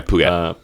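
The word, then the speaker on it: Phuket: down at puket yeah puket puket yeah you spell it P h u k e I wore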